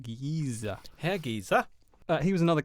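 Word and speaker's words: Giese: It's a slightly Germanic name, but it's, yeah. Well, it would probably be correctly pronounced Giza.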